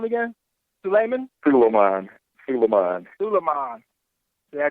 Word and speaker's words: Sulaiman: Sulaiman. Yeah, I butchered it anyhow.